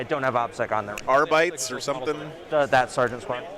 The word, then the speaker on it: Arbites: Boris, the correct pronunciation is Arbites, Here.